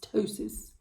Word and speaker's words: ptosis: it's called ptosis and it's spelled with a p it's one of those silent peas ptosis yeah um so heavy